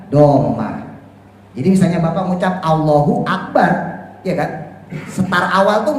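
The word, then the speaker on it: اللهُ أكبر: Enggak mungkin orang baca allaha Akbar kan enggak mungkin atau Allahi Akbar enggak mungkin pasti kita baca Allahu Diah nih ya Allahu akbar Karena domah itu adalah salah satu tanda raofnya mubtada begitu pula khabar khabar itu juga harus dirofa dalam tandanya adalah domma Lah kenapa ini kan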